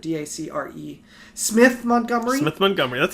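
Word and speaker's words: Dacre Montgomery: Montgomery I think it's pronounced d'accord DAC REE Smith Montgomery with Montgomery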